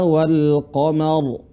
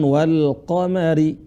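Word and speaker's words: والقمر: Jadi cara bacanya apa? Kalla wal qamar, bukan wal qamari, tapi kalla wal qamar. Ra-nya dibaca tebal.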